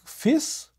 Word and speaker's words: fils: is a word like fils, which can be pronounced differently, as I said, fils, which means son, or as fi, just F-I, if it means the plural of the word fi, which is string.